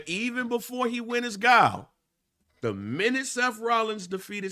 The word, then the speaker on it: Guile: It's Guile. You know, while he's Guile over there, even before he went as Guile, the minute Seth Rollins defeated CM Punk the